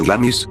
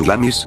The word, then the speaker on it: Glamis: las almenas del castillo el misterio de glamis pronunciado glance sigue vivo gracias a